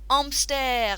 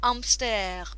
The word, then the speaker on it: hamster: have a hamster le amster now in french you don't pronounce the h often at the beginning of words so le amster but the spelling is